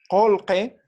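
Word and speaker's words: qullqi: Pronunciamos de esta forma porque esta U, ¿sí? Está después de la Q y esta I también está después de la Q. Entonces, por lo tanto, va a cambiar ambos, ¿no?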